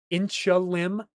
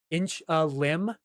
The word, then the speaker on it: Inchelium: So was I pronouncing it right when I said Inchelium? Inch a leem?